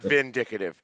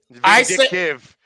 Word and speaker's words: vindictive: to use this word, is not vindicative of the game. Don't ask me how to spell that. Not vindicative. Vindictive. I say tomato, you say tomato.